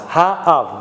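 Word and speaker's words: האב: You've got to pronounce both vowels. Ha-av.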